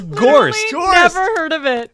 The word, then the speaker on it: Gorst: THIS RHYMES with Morst. Morst? Rhymes with Morst. HORST? GORST? GORST. GORST? IT IS GORST.